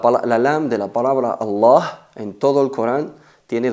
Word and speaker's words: Allah: lam de la palabra allah en todo el Corán tiene dos estados o pasa por dos procesos o hay que pronunciarla de dos formas enfatizada y atenuada cuando se pronuncia enfatizada